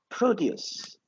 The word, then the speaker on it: produce: The word accent is different because this is the noun and this is the verb.